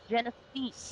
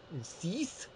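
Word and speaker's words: Genisys: Genesis, Mike. I thought it was Cease.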